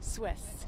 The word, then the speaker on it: Swiss: So, Miss Swift, kind of take me Swiss. Swiss. Like Swiss cheese.